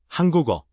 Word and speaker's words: 한국어: The word for the Korean language is spelled 한국일, but the final key slides into the empty, so it's actually pronounced 한국어, 한국조.